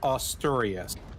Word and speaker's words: Asturias: I believe it is pronounced Asturias.